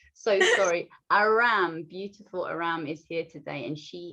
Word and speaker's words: Arame: Actually, no, it's Arame. No. The E is silent.